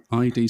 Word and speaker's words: id: This led to creative differences between Romero and ID Software. I always pronounce it ID, and I know it's id, isn't it? It is id, yeah.